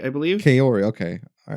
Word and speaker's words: Kaori: Kaori, I believe. Kaori, okay. All right. I'm just trying, because it sounds like Corey throughout the movie, which is why I was confused.